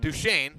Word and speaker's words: Prairie du Chien: Then they're going to go on the road, a 3-hour drive to Prairie du Chien. I think I'm pronouncing that right. Duchesne. Duchesne, thank you.